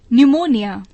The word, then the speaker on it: pneumonia: इन शब्दों को बोलिए तथा हिज्जों और उच्चारण को याद कीजिए, जैसे GNAT नैट, लड़ाकू विमान। HONOUR ऑनर, सम्मान। HOUR घंटा। PNEUMONIA न्यूमोनिया।